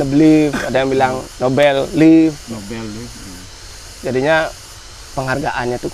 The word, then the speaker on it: Nobeleaf: Berarti bacanya itu no belief. Nobel leaf. No belief. Soalnya kan dari dulu waktu sering dapat event sepanggung makanya kan aku sebutnya cuma no belief.